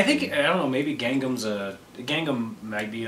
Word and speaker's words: Gangnam: No, they thought it was Gundam.